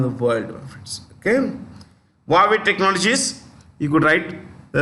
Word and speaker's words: Huawei: Huawei Technologies. That's how you pronounce it.